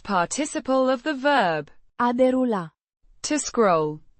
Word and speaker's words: derulat: derulat, The past participle of the verb, a derula, to scroll, pronounced, derulat, with the stress on the first syllable and a soft te, It describes the action of scrolling through something, like images on a screen.